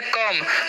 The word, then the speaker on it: come: तो इसे हम क्या पढ़ते हैं, इसे हम लोग पढ़ते हैं कम। कोम नहीं पढ़ना है, ठीक है। यानी कि ओ का जो उच्चारण है यहाँ पर अ होता है।